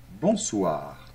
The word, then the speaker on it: bonsoir: et le r final bonsoir très bien accent tonique est toujours à la fin des mots en français donc c'est pas bonsoir non bonsoir d'accord bonjour très bien alors